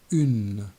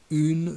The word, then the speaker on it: une: Now the feminine article, une, with the sound U, and be careful not to pronounce the final I, une. For example, une fusée, une porte, une queue, une valise.